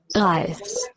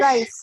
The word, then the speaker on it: Reis: Anna Anna isst Nudeln und Lukas isst Reis. Anna ist Ist Nudeln und Nudeln. Lukas ist Lukas what's the pronunciation? R-E-I-S? Rice. Rice. Rice. Rice. Reis.